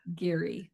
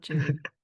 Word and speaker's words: Giri: And I realize I mispronounced it. It's Giri, not Giri.